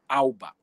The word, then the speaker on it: Alba: Duque de Alva ou Alba né Tem uma questão aí do V e do B na língua espanhola que são pronunciados com o som de B ficou o Duque de